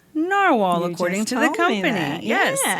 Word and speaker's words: Narwhal: Novar pens but wait a sec it's actually pronounced narwhal according to the company yes exactly I was going to clarify okay I did a little Deep dive and the the brand says they pronounce the name narwhal so I'm going with that all right we've